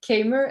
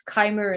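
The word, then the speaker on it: Keymer: i'm being told that i'm mispronouncing uh kmer and that it's kymer instead so of course i'm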